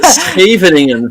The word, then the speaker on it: Scheveningen: It's called the Scheveningen variation of the Sicilian. That's one test to find out if somebody is actually Dutch. Make them say Scheveningen. It's a word only Dutch people can pronounce.